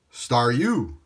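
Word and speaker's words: Staryu: you and he'll give you a gentle slap star U star U is pronounced star u because it's a star spinning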